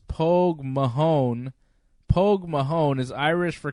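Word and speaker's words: póg mo thóin: their home country it's Mother Russia hoog mohan pronounce Polk Mahone Polk Mahone is Irish for kiss my ass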